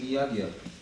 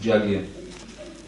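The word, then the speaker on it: yajna: You're actually saying Yagya. You're saying Yagya, you just pronounce it Jagya.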